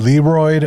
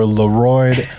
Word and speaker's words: LeRoid: just clear the air I'm okay with Leroy or lorid as long as you spell my name correctly spell it right guys l e r o i d the D is not silent no is the r